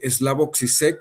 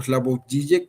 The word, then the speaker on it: Slavoj Žižek: a lo que es la pronunciación siempre ha sido aquí una problemática de Slavoj Žižek o Slavoj Žižek, lo pronuncian de ambas formas, quien habla, ¿no?, de